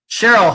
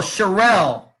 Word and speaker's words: Sherelle: Cheryl, hello. Oh, Sherelle. Okay, Sherelle. Okay. You got it, Sherelle. No problem. Sherelle. Accent on the second syllable.